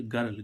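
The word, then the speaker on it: girl: ऐसे ही इसमें जी आई आर एल गर्ल। गर्ल means क्या होती है? लड़की। तो देखो इसमें आई। आई के बाद जी के बाद क्या आ रहा है? आई तो जी का उच्चारण क्या निकलना चाहिए था? ज लेकिन क्या निकल रहा है?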